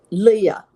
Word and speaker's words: Leah: thinking about I want to make sure I pronounce it right is it just Lee Leah Leah okay Leah Leah Leah okay so so